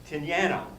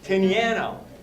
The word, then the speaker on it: Tinianow: I've learned how to pronounce his name, I think. Tinianow. There you go. Tinianow.